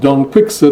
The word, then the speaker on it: Quixote: when a donkey hood don't fix it as i like to call him that's how I was taught to pronounce it when I was an undergraduate it's ingrained in me I'm afraid don't fix